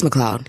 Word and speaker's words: McLeod: name so long I it's McLoud yeah because it doesn't look like how it's spelled so I get that right